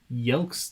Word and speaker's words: Yelks: But as of now, Neil Yelks says, and you still pronounced it wrong. Lol. Yelks like a Y.